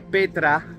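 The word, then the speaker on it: πέτρα: que es la palabra número 4073 que se pronuncia Petra y significa gran masa de roca Vale entonces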